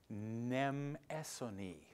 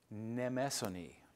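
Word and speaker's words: Mnemosyne: Her name is, let me say it right, Nemesone. Nemesone.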